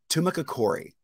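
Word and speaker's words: Tumacácori: to be talking about now i always mispronounce this so tumaka corey we're just going to go with that i have a feeling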